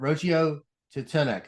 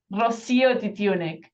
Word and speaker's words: Rocío Titiunik: it to me but I didn't say it right how do I how do I pronounce it Rosia dunic Rosia I'm gonna say